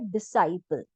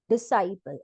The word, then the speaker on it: disciple: तो इसी तरह से हमारा नेक्स्ट वर्ड है डिसाइपल। डिसाइपल।